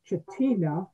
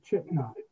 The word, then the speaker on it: Chitina: You would think it's pronounced Chitina, but it's actually Chitna.